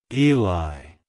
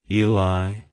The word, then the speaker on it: Eli: Bible it's pronounced as Eli Eli Eli to pronounce it correctly emphasize the e sound at the beginning and soften the LI at the end like hello Eli goodbye